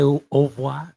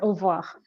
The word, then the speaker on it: au revoir: So how do you say au revoir? Is that it? Au revoir. Yeah, au revoir.